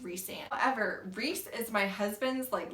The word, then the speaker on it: Rhysand: And if Gideon Cross does not give you Ryzian vibes, I don't know what to tell you. And yes, side note, I know it's pronounced Rhysand.